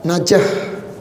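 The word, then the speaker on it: نجاة: Najah. Pakai tawar buta ya. Najatan, tapi kalau di sukun berarti kan bacanya jadi ha ya, najah ya. Najah, tapi kalau ini kita baca khas fathatain jadi najatan.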